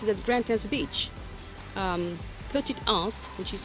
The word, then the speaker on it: Grand Anse: Like Grantin's Beach, which is the famous beach in Grenada, is called, but they pronounce it as Grantin's Beach.